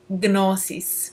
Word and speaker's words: gnosis: altered states of consciousness, otherwise known as gnosis, which in ancient Greek would be pronounced gnosis.